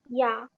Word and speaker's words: 야: Whenever there is double lines anywhere, this means that the sound begins with Y. So this becomes ya. 따라하세요. Ya. 야.